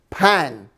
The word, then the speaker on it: pain: french things is bread so the word bread is pan it's spelled like pain but it's pronounced like pan p-a-n so you might